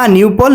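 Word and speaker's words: নোনুপল: উচ্চারণ করতে হবে না নিউপল নাইন না নিউপল নাইন না নিউপল বানানটা হচ্ছে এন ও এন ইউ পি এল ই এন ও না এন ইউ পিএল ই নিউপল না নিউপল নাইন সো আশা করি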